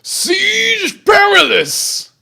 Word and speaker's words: Siege Perilous: Siege Perilous! Rhymes with garrulous.